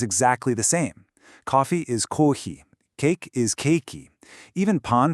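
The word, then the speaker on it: コーヒー: Coffee is kohi.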